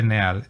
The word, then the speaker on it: Neal: Se escribe Neal, N-E-A-L, Neal.